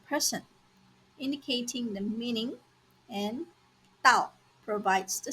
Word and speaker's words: 倒: This Chinese character has two common pronunciations: Dao, third tone, and Dao, fourth tone, each with distinct meanings.